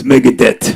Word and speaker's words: Megadeth: They didn't say Megadeth. It's Megadeth.